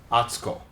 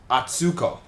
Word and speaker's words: Atsuko: Because for Americans or for native English speakers, when we see a 3-syllable word, we tend to stress the middle syllable. So in Japanese, this would be pronounced atsuko. Okay? But in English, people would stress this one and people would say it as atsuko.